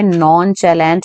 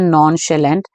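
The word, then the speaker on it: nonchalant: है तू यहाँ पे नॉन चैलेंट वर्ड बोलने की कोशिश कर रहा है मेरे अकॉर्डिंग, ठीक है। नॉन शेलेंट एक्चुअली इसकी प्रोनाउंसिएशन है नॉन शेलेंट, जिसका मतलब है बिल्कुल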